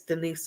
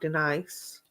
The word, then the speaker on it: Denise: pronouncing it right and it is Denise not Denice I can see it